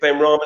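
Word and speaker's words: Benrahma: He's got players there like Ollie Watkins and that Ben Rama guy. Is it Ben Rama?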